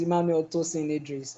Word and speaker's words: Emmanuel Tosin Idris: to hi my name is my name is Emmanuel tosin Idris and I'm speaking all the way from Nigeria